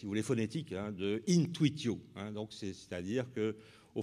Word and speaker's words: intuitio: Alors, donc, vous connaissez la prononciation restituée, n'est-ce pas, de intuitio, qui est intuitio, en fait.